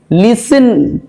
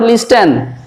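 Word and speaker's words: listen: তারপরে দেখো লিসেন, আমরা বলি তো please লিসেন টু মি, লিসেন নট লিস্টেন।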